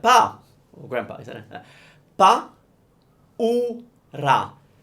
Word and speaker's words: paura: Paura. So it's pa, u, ra. Paura. Paura. So again, pa, as in when you're calling your dad, pa, or grandpa, isn't it? Pa, u, ra.